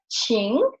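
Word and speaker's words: 请: So with this radical, the Qing we will pronounce it in the third tone, like Qing, and it will mean to ask or to invite, because here is the radical for tongue.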